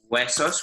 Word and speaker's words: huesos: Huesos with a silent H, and skin?